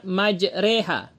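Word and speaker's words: مجراها: dihafuz hanya satu saja yaitu pada lafaz majreha waqabu fiha bismillahi majreha wa mursaha yang waqabu itu tebal wa mursaha juga tebal yang tipis hanya majreha kemudian boleh tafhim dan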